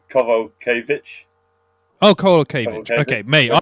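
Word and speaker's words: Kowalkiewicz: That's like and they pronounce the W's as V's, so Kovalkiewicz.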